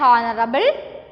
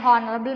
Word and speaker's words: honorable: because we add an honorable man, an hour. Okay, an honorable man, an hour. Okay, the first letter H is this word is silent, and the first sound we hear is of O.